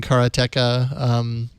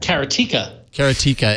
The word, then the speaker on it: karateka: Any news on the Ron front other than your amazing karateka or karateka, however you pronounce that shirt? Karatika.